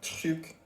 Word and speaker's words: truc: She's like, because sometimes you might be talking to somebody and you might mention a lot of things and you're saying truc, and the person may not know, okay, which thing you're talking about.